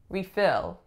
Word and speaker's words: refill: Our next one we have refill. Refill. So this is acting as a verb because the second syllable is receiving stress.